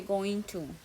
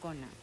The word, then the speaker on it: gonna: es la contracción de going to entonces en vez de decir para sonar más nativo se no se dice Going To sino que se dice gona Sí aquí lo estoy